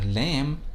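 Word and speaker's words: لام: on to the letter lamb lamb which roughly corresponds to the sound of the letter l in english you'll find that it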